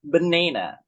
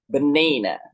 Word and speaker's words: banana: for example into work banana banina okay see you're gonna really listen to it right the primary stress falls on the second syllable banana banana secondly there are also